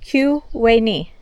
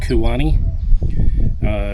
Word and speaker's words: Tyuonyi: So Tyuonyi is pronounced Q, like queen, Q-we-ni. This is the main Pueblo. It's called Kuwani.